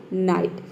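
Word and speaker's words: night: यहाँ पे देखिए एन का हो गया न, और यहाँ पे भी देखिए आई जी एच टी है, तो आई जी, यहाँ पे जी एच साइलेंट है, आई टी के हो गया आपका आइट हो गया, ठीक है, नाइट।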